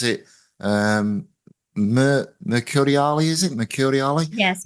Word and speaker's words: Mercuriale: Now, I don't want to butcher this guy's name, but I think you pronounce it Mercuriali, is it? Mercuriali? Yes, Mercuriale.